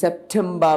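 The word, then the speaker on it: September: সেপ্টেম্বর বানানটা দেখেন, syllable SEP shape, TEM টেম, BER বার, রাইট? এখানে ভেরি সিম্পল, এই একটা সিলেবাল, এই একটা সিলেবাল, এই একটা সিলেবাল, এখানে 3টা সিলেবাল রয়েছে। এই পিটা কোথায় রয়েছে? সিলেবালের শেষে। সুতরাং এই পিটা সয়কার সে প হবে, এটা কিন্তু ভ হবে না।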